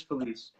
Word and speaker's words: Felice: It's Felice, right? Am I pronouncing that correctly? Chris Felice.